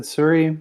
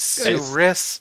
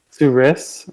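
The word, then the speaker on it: Souris: i looked up uh you said suri man manitoba is that where that's how it would be pronounced in french but manitoba has a whole bunch of french place french named places that are incorrectly pronounced it is serious manitoba su-ris suris manitoba which for those of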